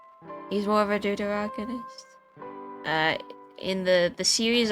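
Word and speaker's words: deuteragonist: side character, I guess, or more of a dragonist. That's not how I pronounce it. Let me see. How was it pronounced against duterogonist? Duteroggonist. He's more of a duterogonist.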